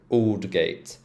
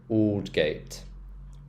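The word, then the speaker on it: Aldgate: High Street sh ditch oldgate oh yeah they algate no it's old gate o so or sound so old gate old Gate Old gate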